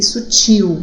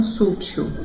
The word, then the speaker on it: sutil: Recém, refém e sutil, e não sútil, tá? Sutil.